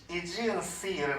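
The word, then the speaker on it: Aegean Sea: 그리고 이쪽 바다를 이지언 씨를 놨죠. 이게 이제 우리가 보통 에게해라고 하는, 영어로는 발음이 상당히 다른데 이지언 씨 그렇게 말해요.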